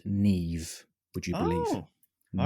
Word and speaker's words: Niamh: It covers a person by the name of Nama, Niamh. I'm totally butchering the pronunciation. I'm aware. Oh, I But don't know it's- what in other countries, but in the UK and Ireland, that would be pronounced Neve.